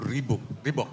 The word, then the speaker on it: Reebok: Jadi tahun 88, Amnesty International itu bersama sepatu, ini bacanya Reebok apa Reebok, Reebok.